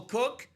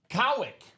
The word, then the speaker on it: Cowick: It is Joshua Cook. It's actually Joshua Cowick. Cowick, if I'm reading that pronunciation properly.